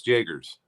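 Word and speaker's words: Jaegers: How did you pronounce her name? Jagers, right? Yes, Jagers.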